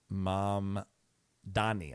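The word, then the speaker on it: Mamdani: Uh mom Donnie mayor race right? Uh mom Dani.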